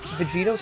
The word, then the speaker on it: Vegito: Vegito is the actual like pronunciation if you're reading it in Japanese.